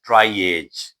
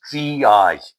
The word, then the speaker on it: triage: I have often heard even the senior doctors pronouncing it as triage. It is not triage. The correct pronunciation is triage. It is a French word.